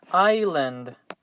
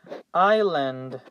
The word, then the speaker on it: island: in this light is island island island notice that we do not pronounce the letter s and the result is i land so pay attention to